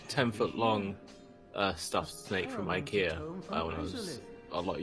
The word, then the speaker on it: IKEA: the other day it's pronounced Ikea, not IKEA.